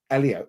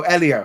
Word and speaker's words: Elio: Um, Mar says in the trailer for Io, the title's character is pronounced Elio. Oh, Elio.